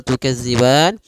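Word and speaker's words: تُكَذِّبَانِ: harakat fabiayiikuma Kemudian tukziban hati-hati pada lafal tukziban di sini jangan dibaca dengan Za jangan tukaz tapi panjang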